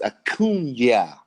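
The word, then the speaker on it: Acuña: But I'm gonna need you to pronounce my man's name right. It's Acuna.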